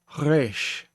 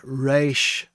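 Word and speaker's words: ריש: Your resh is spoken at the back of your throat, and it's like a gargling sound, but not emphatically like I was doing it then. I'm doing it so that you can actually hear what I'm doing in the microphone. But resh, can you get the hint of the R in there? But it's not a full R sound, not like resh. It's resh. And that is the proper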